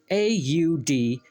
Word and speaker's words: Audhumla: And if you want to try say it, since I'm fucking up the pronunciations, it's Audhumla. Audhumla. That's how I'm going to say it.